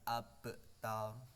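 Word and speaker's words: أبتر: Nah, abtar ini harus anak-anak bedakan ya. Karena di sini abtar ini termasuk bacaan qalqalah sughra, yang mana syarat membacanya harus ada pantulan ya, pantulan, memantul.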